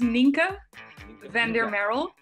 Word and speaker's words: Nienke van der Marel: Okay, so pronunciation is Nienke van der Marel.